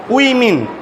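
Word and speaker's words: women: এম ই এন লিখছি না এটা প্লুরাল এটা উচ্চারণ হবে উই মিন বলো বলো উইন মিন বলো উই মিন মিন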